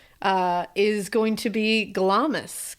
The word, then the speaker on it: Glamis: Well, my final one and what we'll end this on uh is going to be Glamus Castle or Gloms. I was going to say Gloms.